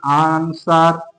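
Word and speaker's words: answer: তারপরে আমরা একটা দেখতে পারি আনসার। আনসারেও কিন্তু আমরা ডবলিউ এর উচ্চারণ পাচ্ছি না।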